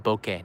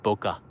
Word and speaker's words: bokeh: It's actually pronounced bokeh, not boka.